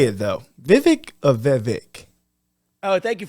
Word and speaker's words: Vivek: you say it though Vivek of Vivek oh thank you for asking I appreciate that so it's Vivek like cake okay everybody says it